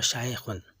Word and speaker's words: শেখ: এটির মূল উচ্চারণ হলো শায়েখুন।